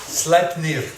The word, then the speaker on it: Sleipnir: Sleipnir. Sleipnir. Vous voulez que je le prononce à la norroise? Oui. Sleipnir.